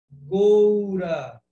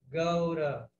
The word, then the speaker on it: Gaura: Mas nessa gravação que eu compartilhei com vocês, ela canta Gaura, Gaura. Por quê? Gaura e Goura. Gaura é a pronúncia do sânscrito clássico, do sânscrito que era falado na Índia lá há milhares de anos.